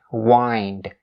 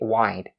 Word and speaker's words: wind: make sure you enunciate the N sound that's standing just right in the middle of the word wind. Wind. Don't ever say wide. Wide. It's wrong. If you say wide, that means something is big.